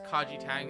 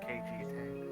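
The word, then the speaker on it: Kaiji Tang: Also, OJ, I think it's Kaji Tang. That's right. That's how you pronounce it. Or KG Tang.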